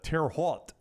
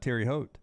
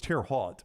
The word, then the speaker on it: Terre Haute: thing I mispronounced today I always call it Terry Haute Terry Haute it could be I thought it was tear hot but I've never lived